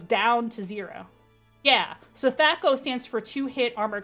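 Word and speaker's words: THAC0: armor it goes down to zero yeah so tho stands for two hit Armor class zero and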